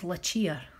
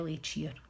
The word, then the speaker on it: Lacheer: well forgot to say lick its lechea mr. Schumann that's how you pronounce it but it could be a leech year I would see what